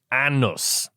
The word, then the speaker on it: Anus: Despite its unusual spelling, the community's name is traditionally pronounced Annus.